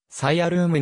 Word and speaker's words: Cyalume: ルミネッセンスの合成語英語での発音はさいあルームに近いが日本での